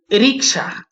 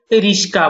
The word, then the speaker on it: রিক্সা: রিক্সাকে অনেকে রিস্কা বলে থাকে, শটাকে আগে দিয়ে করে,